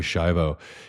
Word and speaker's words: Schiavo: And if you want to Google it, I think it's spelled Terri, and then Schiavo is Shiv like Victor O, Terry Schiavo.